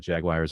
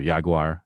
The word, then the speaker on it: Jaguar: We got Jaguars, or Jaguar, as the British would say in their commercials. Jaguar. Yeah, the Jaguar, I believe is how they say it. The Jag. Yeah, actor Mark Strong, who is the spokesman for Jaguar, says it exactly that way.